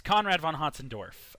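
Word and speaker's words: Conrad von Hötzendorf: up next we have hudson dwarf uh yes conrad von hodsendorf ah that's how you pronounce it i always just say conrad i'm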